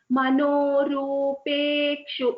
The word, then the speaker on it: मनोरूपेक्षु: For example, Manorupekshu, it is a pa there.